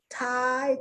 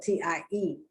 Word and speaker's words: Thai: th versus th no because it's the t sound thai thailand thailand and people from thailand are called thai but it's not spelled t i e it's spelled uppercase t